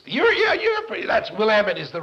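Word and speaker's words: Willamette: yeah I it's you're yeah you're pry that's will Amit is the right pronunciation is it looks like it ought to be willamet but we'll am at College in Salem and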